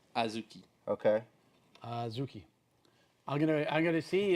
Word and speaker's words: azuki: Sometimes spelled with a D right after the A, Azuki. but it's Azuki.